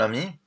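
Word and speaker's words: amie: So it's just ami with the I ending for men. But the pronunciation is the same. So ami and ami are pronounced exactly the same.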